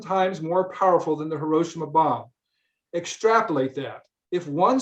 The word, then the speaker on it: Hiroshima: to pronounce hiroshima because we say hiroshima in english but he said the correct way to say it in japanese is hiroshima think about that for